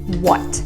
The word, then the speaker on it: what: have a silent letter in this situation the h is not pronounced so the word is